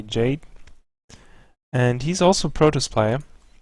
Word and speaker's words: Jade: a former teammate of Yad or Jade I don't know why I keep saying y it's like the yada yada ya the German pronunciation but you actually say Jade and he's also protest